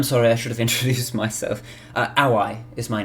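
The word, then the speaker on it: Aoi: have introduced myself uh aai is my name AI a o i okay with the w but just W it it's it it's pronounced as if it's spelled with a W but it's a oi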